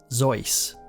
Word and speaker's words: Seuss: According to the man himself, Seuss actually rhymes with Seuss.